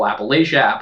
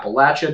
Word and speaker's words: Appalachia: takes place in rural appalachia appalachia depending on how you want to pronounce it please don't sue me